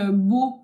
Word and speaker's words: Beau: Après, moi, enfin, voilà, E-A-U, A-U, tout des tonalités de O, hein, voilà.